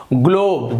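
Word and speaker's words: globe: कोई व्यंजन हो तो, जी के बाद यहां पर एल है तो इसका उच्चारण भी ग हो रहा है, देखिए ग्लोब, जी एल ओ बी, ग्लोब, यहां पे ज्लोब नहीं हो रहा है, ग्लोब हो रहा है।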